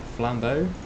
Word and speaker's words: flambeau: He finished forging the flambeau. Or flame view. Flame. I'm sure you must pronounce that in sort of a French way, right?